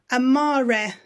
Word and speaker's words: amare: Amare, to love. No A split E sounds like in English.